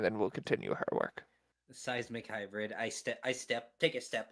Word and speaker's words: Simic: Seismic? Sismic? Simic? Out of character, I can never remember how to actually pronounce it. She will just Simic. say Simic. Yes, Simic yes, Simic.